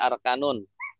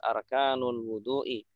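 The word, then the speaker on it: أركان الوضوء: Arkanu, tidak arkanun. Karena sebagai mudhof jadi enggak ambil. Bagus. Karena dia sebagai mudhof arkanu al-wudu'i bagus. Arkanul wudu'i. Kenapa dia dhammah, Pak? Tidak arkana atau arkani?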